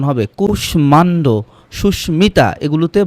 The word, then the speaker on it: সুস্মিতা: বলা হচ্ছে কিছু সংস্কৃত শব্দে মফলার ময়ের উচ্চারণ হয়। সংস্কৃত শব্দগুলো স্মিত, এটা ম উচ্চারণ হবে। কুষ্মাণ্ড, সুস্মিতা, এগুলোতে ম উচ্চারণ হয়েছে, কারণ শব্দগুলো হচ্ছে সংস্কৃত শব্দ।